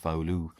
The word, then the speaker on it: Foley: And uh this photograph I love it too because it it's 1780s and it's for an Edmund fauu which is that um local the Irish pronunciation for foley and so those the